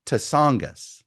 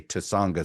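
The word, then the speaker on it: Tsongas: Uh, in 1992, there was a a former one-term senator from Massachusetts by the name of Paul Tasangis. I say Tasangis because the first time you're like, who's this guy?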